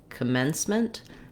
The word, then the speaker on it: commencement: there we have our clear vowel e like in the word men or red um and the letters c are going to say the s s sound so I've Rewritten it here for you sound at the ends of words like in once or twice for example so um practicing uh